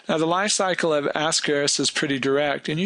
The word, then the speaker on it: Ascaris: you're writing it you should underline it it's pronounced ascaris so ascaris is a large intestinal parasite invertebrate